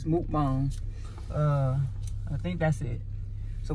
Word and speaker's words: mukbang: Teach said it's mukbang. My bad. I gotta find a correct. She told us that we weren't saying it right. Right, it's mukbang.